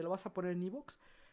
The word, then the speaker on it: iVoox: ¿Por qué la gente dice iVox? No lo entiendo, es una plataforma española, es Evox. De hecho, si tú escuchas la publicidad del mismo Evox, Evox se pronuncia a sí mismo como Evox, nunca como iVox, pero bueno, ya, saliendo de ese paréntesis.